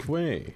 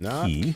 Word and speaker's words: quay: Quay. Yes. Quay. Not key.